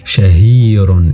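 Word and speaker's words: شهير: C'est la même chose, la seule différence c'est que le ha ici, il est suivi par une voyelle longue. C'est une syllabe longue et donc ça fait shahirun et le ha il est rallongé.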